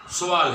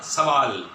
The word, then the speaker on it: سوال: سوال پوچھنا، لفظ سوال ہے سین پیش، جبکہ ہمارے ہاں سوال بصد معذرت، سوال جو ہے سوال سین زبر، یعنی ہم اسے مفتوح پڑھتے ہیں سین کو زبر کے ساتھ.